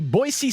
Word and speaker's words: Boise: The Boise State Broncos, Dan. Good pronunciation. Thank you. Boise with a C.